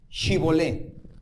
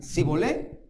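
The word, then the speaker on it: Shibboleth: Y si él respondía no, entonces les decían ahora: si puedes ahora, pues di Shibolé. Y si decían Sibolé, porque no podían pronunciarlo correctamente, entonces le echaban mano y le degollaban junto a los vados del Jardín.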